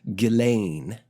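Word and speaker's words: Ghislaine: first name though funny spelt it is is pronounced galain um she was arrested recently and a lot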